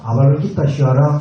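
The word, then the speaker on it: अवलोकितेश्वर: V를 와로 발음합니다.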